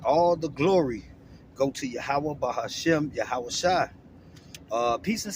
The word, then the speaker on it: Yahweh: For those who don't know, the Heavenly Father name is Yahweh, man, all right? And that's how you pronounce it in the Paleo Hebrew, all right?